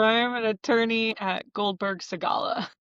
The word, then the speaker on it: Goldberg Segalla: So you're going to have Yeah, to pronounce the name of your law firm. sure. So I am an attorney at Goldberg Segalla. Goldberg Segalla.